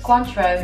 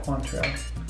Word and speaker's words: Cointreau: How do you pronounce this? Cointreau. Yeah, Cointreau.